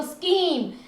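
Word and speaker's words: scheme: देखो स्कीम, SCHEM, स्कीम।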